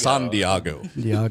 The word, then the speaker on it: San Diego: it no no that the we're going to San Diego this summer and I think that'll be enough okay I've never been to San Diego I've heard it's awesome though actually pronounced San Diago yes so I would decided to figure out